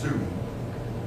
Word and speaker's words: Song: I believe that's pronounced Soon. If any of you know, you're welcome. Soon. Okay, thank you. Yeah. It's spelled like our English word Song. I mean, that's what it's pronounced Soon.